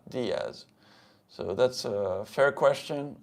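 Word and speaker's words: Díez: dth it's dth so there's an accent on the I if you pronounce it correctly the same thing is di not death you see sounds slight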